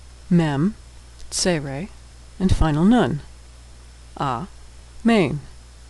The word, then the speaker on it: amen: A-main, amen. But Israelis would pronounce that amen as we do in English.